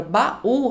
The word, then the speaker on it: baú: E aí, às vezes, a gente olha pra palavra baú e fala assim: "Bom, mas baú, a última sílaba é mais forte, então ela é uma oxítona. Mas as oxítonas terminadas em U não são acentuadas.